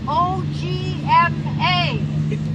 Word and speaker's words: OGMA: On page 13, what is an OGMA? O-G-M-A. It's pronounced OGMA.